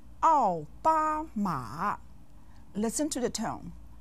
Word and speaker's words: 奥巴马: 奥 with the 4th tone, 巴 with the 1st tone, and 马 with the 3rd tone.